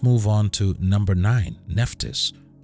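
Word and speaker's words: Nephthys: on to number nine nephtis or her name is also pronounced nebet head in ancient Egyptian was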